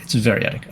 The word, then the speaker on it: variadic: How do you pronounce it? Variadic. Variadic. Variadic. Variadic. Variadic. Okay, it's variadic.